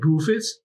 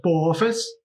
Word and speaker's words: Boophis: Yeah, I think it would be Bophis, not Buphis, because in my mind it's so similar to Buphis, the toad genus. That it makes no sense to pronounce it that way.